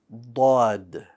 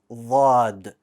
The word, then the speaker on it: ض: Dad. One more time. Dad. Good. This letter, bold, no air.